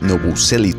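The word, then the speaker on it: Novoselić: Bueno, sí, su apellido original se pronunciaría Novoselic, pues lleva esa especie de tilde sobre la C, sonido procedente del croata que no tiene equivalencia en español o inglés, pero lo más cercano sería un tss, no un ch de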